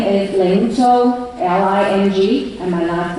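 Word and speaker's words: Tsou: My name is Ling Zhou, L-I-N-G, and my last name Zhou is spelled T-S-O-U.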